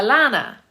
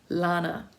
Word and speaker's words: Lana: I had somebody do that to me today, and I was like, Lana. My name is Lana. It's very simple. It's 2 syllables, La-na, L-A-N-A.